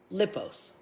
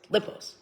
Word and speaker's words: Ipos: This one's a little hard to pronounce, only because it's very few words. Lipos, but it's spelled L-P-O-S. Lipos. Okay. It just looks weirder than it is to say, I guess.